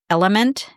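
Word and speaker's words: LMNT: Now, the other one I might consider buying, but haven't, is a product called Element. That's spelled L-M-N-T.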